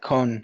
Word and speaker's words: con: How do you spell that con in Le- French?